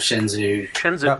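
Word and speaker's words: Shenzhou: in the shins out shinzou I think Chen Zoo is actually how you pronounce it you're right I quite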